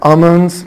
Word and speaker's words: almonds: واحدة جوز هند، وعندنا almonds almonds انا ال silent حبايبي، وعندنا syrup يعني